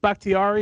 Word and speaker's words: Bakhtiari: left tackle for the Packers, is it David Bakhtiari?